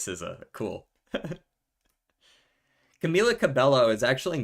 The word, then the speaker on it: SZA: Okay, it actually is Siza.